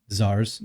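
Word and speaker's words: czar: the power of the Zars zar which is spelled CZ a RS in Russia and of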